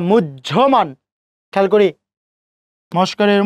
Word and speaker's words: মুহ্যমান: উচ্চারণ কি মুহমান না মুহ্যমান?